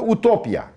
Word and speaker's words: utopya: Ü sesi de oradan geliyor yani. Aslında utopya. Utopya. Utopya. Ütopya. Ütopya diyoruz biz ona ama aslında utopya.